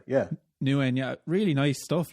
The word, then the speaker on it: Nguyen: Oh, Nguyen. Yeah. Nguyen.